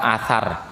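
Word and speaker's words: atsar: Athar. Athar, A-T-S-A-R itu. Tapi kalau menggunakan hijaiyahnya hamzah sa alif ra, itu athar.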